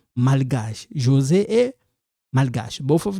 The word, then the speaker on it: malgache: So you don't pronounce this, but this one we pronounce malgache.